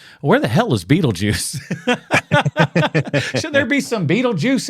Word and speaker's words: Beetlejuice: It's pronounced Beetlejuice, but I think that's how originally that's what they wanted his name to be spelled like.